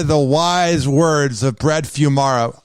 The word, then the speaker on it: Fuimara: hear the wise words how do you say your last name first before i kiss your ass fumira few mara if people want to hear the wise words of brett fumara how can they check